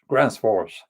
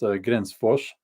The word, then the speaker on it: Gränsfors: Gränsfors, if you go to their, that's the Americans say Gränsfors. It's pronounced Gränsfors.